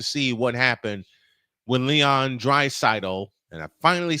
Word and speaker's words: Draisaitl: But y'all have to see what happened when Leon Draisaitl, and I finally said it right, even though Droid said it right all last night.